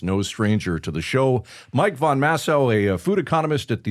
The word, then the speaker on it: Von Massow: We're going to speak to Mike Von Massow. Did I pronounce that right?